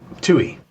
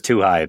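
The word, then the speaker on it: Twohy: And is the director How you do pronounce his name? It's David Tuhi or Tuhai. Tui. Tui. Well, yeah. I mean, I was Tuh High the first time I saw this in the movie theater.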